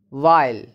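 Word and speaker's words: weil: While, Why while? Why not while? While, because EI sound is I. It's like I.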